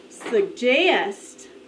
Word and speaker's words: suggest: Listen. Suggest. Suggest. The accent is on the second syllable.